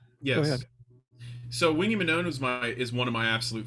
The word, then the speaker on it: Manone: I had a question about Wingy Manone. Is that how you pronounce his last name?